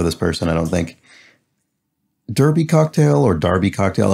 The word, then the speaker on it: Derby: cocktail or darby cocktail oh in this case derby it would be darby if it were somewhere in the uk but in this case it's not it's the kentucky derby which means this is